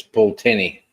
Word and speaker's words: Pulteney: Bro says it's Pulteney. Pulteney. Okay. I said it right the first time.